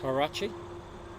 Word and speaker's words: Huarache: I have a horrible feeling that, despite my best intentions, I pronounce the H at the start of that word when everyone knows that the H in Spanish is always silent, and that includes the Spanish spoken in Mexico.